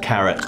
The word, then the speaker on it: carat: fifth of a gram it's spelled carrot not as in the carrot the vegetable but c a r a t the derivation of the